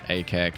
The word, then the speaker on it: Akek: word Ak mean and uh how do you pronounce it?" So, just like I said there, Ak is the way to say it.